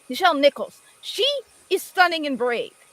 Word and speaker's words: Nichelle Nichols: Nichelle Nichols.